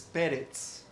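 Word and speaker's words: Peretz: pero Déjenme decir que no es pares es perz perz Okay acuérdense de ese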